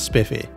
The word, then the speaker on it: Spiff UI: As for special mentions, I'll include Alternative Inventory Rendering and Spiff UI, which is apparently pronounced as Spiffy.